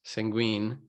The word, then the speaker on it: Sanguine: Um, but for projects like this, where it's all you have is custom design for my alias Sanguine, right? That's how you say it, correct? It's sanguine. Yeah.